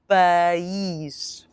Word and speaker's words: país: Here, remember to stress that I as a double E sound in English. Now repeat after me, país.